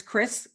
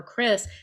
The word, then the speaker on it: Krys: Well, I think his pronunciation name is Chris, Krys. Yes, Chris is fine.